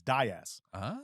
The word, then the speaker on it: Das: her last name nice I called her Sher Diaz it's not Diaz it's Das Sherry di she has handles